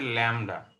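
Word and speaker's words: lambda: আচ্ছা এটার উচ্চারণ হচ্ছে ল্যামডা, LAMDA। আর এটাকে বলা হয় নিউ, নিউ। মিউ না, মানে এম না কিন্তু, এন, নিউ।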